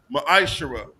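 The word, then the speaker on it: מעשר: through 10 means 10th in the Hebrew it's pronounced maishara ten percent of every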